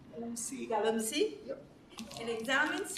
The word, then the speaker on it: galamsey: Darryl's current research focuses on Ghana's illegal gold mining crisis, locally known as, now, am I pronouncing this correctly? Galamsey?